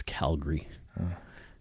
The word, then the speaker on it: Calgary: No, it's Calgary.